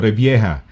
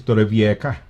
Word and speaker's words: Torrevieja: Kamukha na kunyari, for example, Torrevieja. Ang pronunciation ng mga British is Torrevieja.